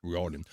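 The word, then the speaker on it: O'Riordan: how do you say this dores o riordon Riordan uh yeah she was the famous singer of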